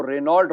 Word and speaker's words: Renault: ने नहीं सुना होगा, कोई इसको रेनॉल्ट बोलता होगा, हम रेनो बोलते हैं और कई लोग रेनॉल्ट बोलते हैं, तो हर का प्रोनाउंसिएशन का अलग होता है।